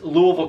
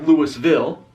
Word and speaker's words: Louisville: the pronunciation of it you have to have a southern accent to pronunce it but for me I